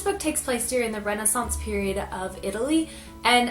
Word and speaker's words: Renaissance: takes place during the Renaissance period of Italy and I do pronounce it Renaissance although I have heard people pronounce it Renaissance so tomato tomahto type deal just go with it but Genevra finds